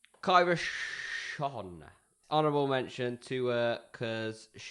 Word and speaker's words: Schon: Kyra. Is it? Sean? Yeah. It's spelt Kyra space Schon. Kyra Sean.